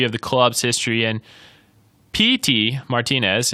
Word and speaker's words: Pity: the club's history and Petey Martinez it's pronounced like pee and then a t-shirt so if you guys are out correct your friends it's P T it's not pity no one is pitying